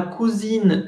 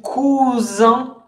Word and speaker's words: cousin: Si ustedes no pronuncian la S, recuerden, una S entre dos vocales suena como Z. Si no la pronuncian así, lo que están diciendo es cojín y no primo. Cojín es cousin con dos S y se pronuncia cousin.